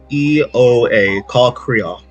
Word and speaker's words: Caw'Kreoa: If you want to know how to spell it, CAW''KREOA. Caw'Kreoa.